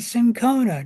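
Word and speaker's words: cinchona: a drug was uh the bark of the sincona tree or cona tree depending on either pronunciation is correct.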